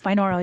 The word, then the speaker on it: binaural: in your book, you talk about, and hopefully I'm saying this correctly, by, how do you say the beats? Biannual? Is that Binaural, binaural, binaural? Okay. binaural.